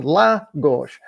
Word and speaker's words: Lagos: wait a minute no there's no accent over that SEC over that o so there's nothing in this word that tells me I should emphasize the O yes it's two syllables should emphasize the first one La gosh right so